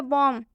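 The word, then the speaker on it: bomb: अगर आप इसे कॉम्ब पढ़ते हैं तो इसका उच्चारण गलत हो जाएगा। कॉम्ब का मतलब होता है कंघा। नेक्स्ट एग्जांपल देखिए, बॉम्ब, बॉम्ब में भी एम के बाद से बी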